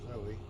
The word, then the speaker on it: Zoe: I call her Zooey because I used to work with a student. Her name was Zoe. And she couldn't pronounce one of the teacher's names, so he gave her grief back by mispronouncing her name and calling her Zooey.